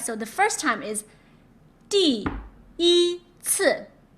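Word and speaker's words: 第一次: CI, you have to focus on the C because it is one of the special 7, so you have to ignore the I.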